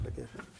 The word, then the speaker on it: Laguerre: How do you pronounce Laguerre?